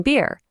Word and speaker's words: beer: Picture a deer drinking beer.